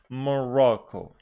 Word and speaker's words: Morocco: Stress on the second syllable, making it Malaysia. Malaysia. And Morocco. Morocco.